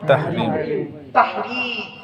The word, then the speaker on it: তাহরীম: সূরাটির নাম হলো সূরায়ে তাহরিম। কি বললাম? তাহরিম। তাহরিম উচ্চারণটা ঠিক রাখবেন, বুঝতে না পারলে বলবেন।